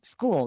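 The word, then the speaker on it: Skool: It's on school. That's spelled S K O L.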